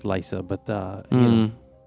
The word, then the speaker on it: Lysa: Uh, it's it's pronounced Lysa, but uh I spelled L Y Sa, you know.